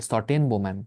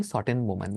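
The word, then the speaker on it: Schotten-Baumann: ऐसे बोला जाता हैसे प्रोनंसिएशन ऐसे सन बोमन स्टेन नहीं सन बोमन बोला जाता है ओके और क्या ऐसा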